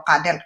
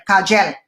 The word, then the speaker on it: Kagel: Ang pronunciation pala ng Cadel is hindi daw Cadel, Kagel.